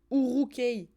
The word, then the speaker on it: Uruk-hai: Ça se prononce Urukei.